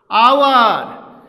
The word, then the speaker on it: hour: And hour. Here hour starts with ace but its pronunciation is omitted, so we can use and before it.